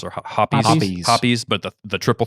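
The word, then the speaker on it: Hoppe's: Hops or hoppies?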